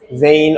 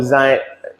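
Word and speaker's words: zein: Zain or Zain. Either one. Zain. I'm British, so I pronounce it Zain.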